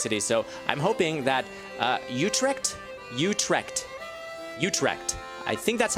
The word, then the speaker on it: Utrecht: So I'm hoping that Utrecht, I think that's how that is pronounced, and over here is Groningen.